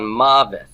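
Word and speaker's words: מָוֶת: Now, where is my stress on mavet? It's on the first syllable.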